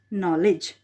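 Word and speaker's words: knowledge: 3 के ठीक है के से आप क्या उच्चारण हो रहा है के से नॉलेज है ना लेकिन क्या है क्या बोलते हैं हम नॉलेज लेकिन लिखा क्या जाता है इसको के यहां पे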